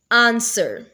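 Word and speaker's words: answer: करेंगे और बोलेंगे रंग आंसर अब आंसर में डब्लू की प्रोनाउंस नहीं की जा रही तो डब्लू को अंडरलाइन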